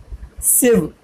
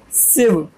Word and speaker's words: sieve: It is pronounced as sieve, sieve.